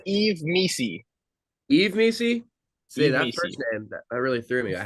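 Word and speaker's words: Yves Missi: Is it Yves Misi? It is Eve Misi.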